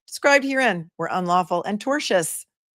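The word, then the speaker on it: tortious: herein were unlawful and torchious. They've seen this word pronounced many ways. It is torchious. T O R T I O U S meaning of a tort and not the kind of tort that you eat.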